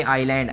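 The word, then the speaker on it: island: हैं आयरलैंड है पर इस लेंथ लिखा है आप लोग पढेंगे इसे आईलैंड आईएस इस नहीं पढेंगे आईलैंड करेंगे इसे ठीक है एस साइलेंट है उसकी आवाज नहीं आती है il&fs नंबर 175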